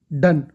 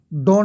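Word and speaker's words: done: करना, डू, डिड, डन। डॉन मत पढ़ना भाई, खुदा के वास्ते, इसे डन, ठीक है?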